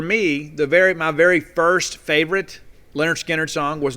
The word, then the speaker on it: Lynyrd Skynyrd: Now, pronounced Lynyrd Skynyrd, I had that on cassette.